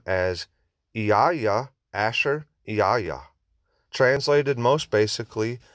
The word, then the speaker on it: Yahuah: So the yod is pronounced as e, the he is pronounced as a, the vav is pronounced as u, and the he is pronounced as a. Therefore, the pronunciation is Yahuah or Yahuah. To ignore the a at the end is a disservice, as is found in the pronunciation Yahweh, as the a is the breath of the Father within his own name.